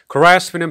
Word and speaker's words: grasp: grasp는 발음이 조금 까다롭긴 한데 여러분들이 암기하실 때 간단하게 암기하시는 방법은 여러분들 몸이 아프다가 회복할 때는 어떤 걸 먹죠? 소고기 스프나 전복 스프 같은 걸 먹죠. 맞죠? 그런 발음을 해보시면 돼요. 소고기 스프, 전복 스프, grasp 이렇게 알아두시면 좋고요.